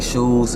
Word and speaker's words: Shoose: Shoose, as in it's pronounced like shoes on your feet, Very much so.